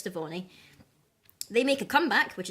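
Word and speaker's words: Stevonnie: There was one where Steven and Connie were hanging out, and there was also a glimpse of Stephanie, or however you pronounce that. I'm pretty sure it's Stevoni.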